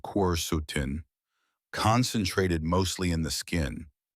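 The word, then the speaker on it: quercetin: Apples, especially red varieties like Red Delicious and Gayla, contain high levels of a powerful flavonoid called queretin, pronounced quutin, concentrated mostly in the skin.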